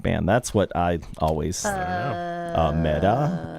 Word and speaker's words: Meta: That's what I always Meta Rhymes with feta.